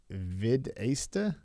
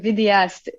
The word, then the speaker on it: vidéaste: Videsta? Oh, vidéaste. Okay. It's French.